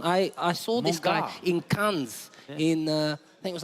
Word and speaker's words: Cannes: I saw this guy in Cannes.